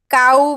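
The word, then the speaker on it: cow: पण पाठ करून घेते बघा कसं बदलणार आहे सी ओ डब्ल्यू को बोलतो का आपण नाही सी ओ डब्ल्यू काऊ बोलतो आहे की नाही गाय आहे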